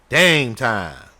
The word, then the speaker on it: Dame Time: Dame Time. Like game time. Yep. But with a D.